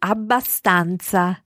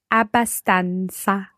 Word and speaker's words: abbastanza: Ok, abbastanza. Abbastanza. Okay, always remember to bounce on that.